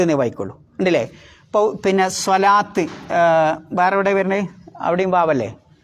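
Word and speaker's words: صلاة: വാവ് ഉച്ചരിക്കരുത്, സ്വലവാത്ത് എന്ന് ഉച്ചരിക്കരുത്, സ്വലാത്ത്.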